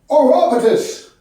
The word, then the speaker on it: Orapotist: can tweak my medication my name is pronounced or robertus my buddies call me